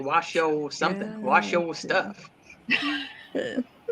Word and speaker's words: Washoe: But Teresa, I would say Washoe too, because look how it's spelled. It's spelled like shoe.